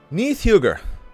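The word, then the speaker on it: Níðhöggr: of the video I'll take a shot at pronouncing his name in Old Norse Neath Huger which also means malice Striker or Terror of corpses he is a dragon who NOS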